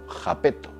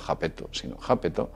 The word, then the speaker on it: Iapetus: Well, it is as if Ryugu or Iapetus itself – that would be its correct pronunciation, not "Japetus", but Iapetus – were spaceships Ryugu,